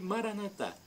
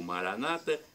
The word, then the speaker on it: Maranata: E Maranatá, como dizemos nós católicos, ou Maranata, como dizem os evangélicos ou protestantes. Não importa a pronúncia, vem do dialeto de